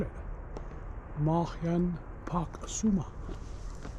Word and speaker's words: Marjan: to a viewpoint called Marjan. You don't pronounce the J. It sounds like to me Marjan Hill, which is a viewpoint over a Split and over the bay and harbour.